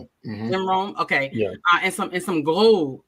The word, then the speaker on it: Rohn: Is that how you pronounce it? Mm-hmm. Jim Rohn.